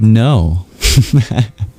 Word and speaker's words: know: No, it means well, you know what it means. Comes from the Greek root gna. And that G is why we have a silent K.